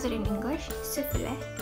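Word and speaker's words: スフレ: Sufure. Because in Japanese it's sufure.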